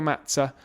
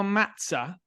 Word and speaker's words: Mazza: Oliver, thanks a lot first of all for the perfect pronunciations of my name which often in English is butchered into something else which I got used to but that was wonderful.